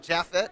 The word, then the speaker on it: Japhet: Is the PH like an F, Yeah. like Japhet? Yep.